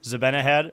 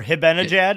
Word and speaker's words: Zibanejad: I think it was Zibanejad or Hibenajad. Apparently the Z is silent, and like That's most hockey crazy.